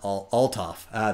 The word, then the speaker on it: Althoff: And I was lucky enough to come across Mike's website, coincards.ca, and the H is silent. Althoff.